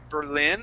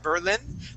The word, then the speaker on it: Berlin: And uh the name Berlin, we put that accent there at the very end. So instead of saying Berlin, we say Berlin.